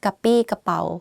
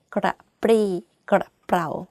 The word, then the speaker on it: กระปรี้กระเปร่า: I know that it's difficult because you have รอเรือ which force you to click your tongue while you are speaking. Like that. If you can't just say กระปี้กระเป๋า It's not 100% grammatically correct, but people still can be able to understand what you're saying.